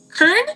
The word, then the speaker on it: Kern: Um oh, I I keep calling you Ken, it's um it's not Ken. Sorry, it's Kern.